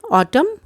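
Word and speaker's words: autumn: Imprisonment, ऑटम, AU है, ऑटम, U silent है, ऑटम।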